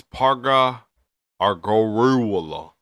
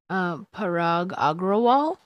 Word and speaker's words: Parag Agrawal: The CEO is Parga Argoruola. Oh, bro, I'm sorry, I messed your name up, dog. Like, can you say his name? Parag Agrawal. Can you not do this to people? These people are gazillionaires and they got our future in their hand. Can you get their name right, please?